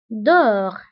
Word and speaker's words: dehors: ونتبهوا أيضا بالنسبة ل dedans و dehors كنكتبوهم بأس في آخر الكلمة ولكنها لا تنطق dedans dehors داخل خارج.